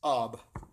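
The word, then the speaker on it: אב: Pronounced Ab, and it really made a strong anointing in my house.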